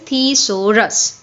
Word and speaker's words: thesaurus: not work clear so again i'm repeating its pronunciation that is theosorus clear next header right header has different meaning